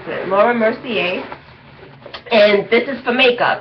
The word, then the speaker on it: Laura Mercier: They call it a makeup portfolio, and the brand is Laura Mercier, is I believe how you pronounce it, Laura Mercier, and this is for makeup.